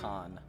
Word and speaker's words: Khan: and greet temlin katun timlin khan i keep forgetting that's pronounced khan welcome warriors of the